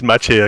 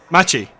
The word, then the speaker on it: Machi: worth taking a look that is the correct pronunciation it's matchy actually machi yeah machi mache yeah